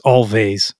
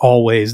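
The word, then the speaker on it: Alvvays: v's so it's it you would think it's all vase but it's actually I read a couple places actually pronounced always their album Blue rev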